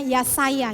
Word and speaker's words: Yesaya: Yang teman-teman harus tahu adalah bahwa Yesaya ini adalah dalam bahasa Ibrani biasanya dibacanya Yasaya.